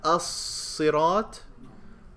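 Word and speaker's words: الصراط: I have as-sirat. Is there a shadda on the sad? Did I pronounce the lam as-sirat? Lam is not pronounced. That's how you know it's a solar letter.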